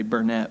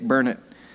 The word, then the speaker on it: Burnett: Actually, I didn't spell it, I just said it, but most people would say Burnett, but it's Dick Burnett.